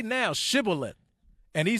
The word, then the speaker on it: Shibboleth: They said, say Shibboleth, and he said, Sibboleth.